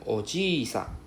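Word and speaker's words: おじさん: So you need to know the difference. Do not add additional I sound.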